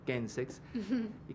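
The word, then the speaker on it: Chemsex: Se escribe Chensex, le decimos Kensex, que es un poco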